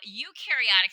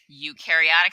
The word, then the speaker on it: eukaryotic: like water-bound individuals again eukaryotic cells you rhymes with do they do have nucleuses